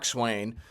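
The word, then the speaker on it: coxswain: finish and you have what they call a Swain which you know they spell it cxs SW a i n but it's like the jockey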